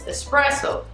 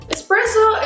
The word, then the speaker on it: espresso: know how it works espresso is not a type of beef it's definitely not always and not necessarily dark roast and it's totally not pronounced with an X in the middle hi excuse me can